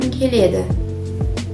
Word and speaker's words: келеді: Америкаға барғым келеді. Мы так пишем, да, барғым келеді. А произносим правильно. «К» озвучается на «г». Барғым келед. Также окончание «д» оглушается на «т».